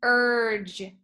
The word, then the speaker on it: urge: Right here inside of the word urge is the soft G. It sounds like a J, J sound.